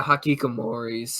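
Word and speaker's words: hikikomori: Yeah, Hakikomoris. Ikigamori. Hakikomori. That's how you pronounce it.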